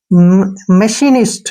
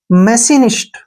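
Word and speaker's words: machinist: ठीक है ना और आई का जो उच्चारण है ई हो जाएगा और एन आई का नी और एसटी का सट यानी एस से स और टी से ट तो इसको हम पढ़ेंगे मशीनिस्ट क्या पढ़ेंगे मशीनिस्ट ध्यान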